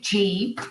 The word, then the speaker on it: Gee: a second language i i wasn't sure about whether it was ghee or g anyway g so james paul g